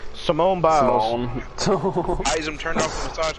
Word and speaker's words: Simone Biles: Simone Biles. Oh, I'm sorry. I did not mean to mispronounce her name like that. I said Simon too. Simone Biles.